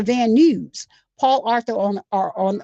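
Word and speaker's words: Van Nuys: Oh, it's it's I I never realized that is pronounced news to van news.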